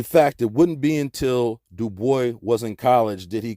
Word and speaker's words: Du Bois: black David Levering Lewis W.E.B Du Bois yes he always insisted on that pronunciation uh he did not like the Gaelic pronunciation though in his antecedence he was partly French look at this nigga's